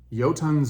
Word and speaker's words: Jotunns: I'm using mad Vikings yotun's Brew it's spelled funny it doesn't it's not pronounced the way you think anyway yotin's Brew I got this